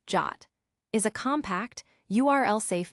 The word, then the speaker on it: JWT: JSON web tokens JWTS the format of trust a JS web token JWT pronounced jot is a compact URLs